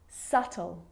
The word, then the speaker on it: subtle: subtle debt and doubt so see in all of those examples my lips aren't closing and coming together to form the b sound i'm just pronouncing the t subtle debt and doubt now the letter c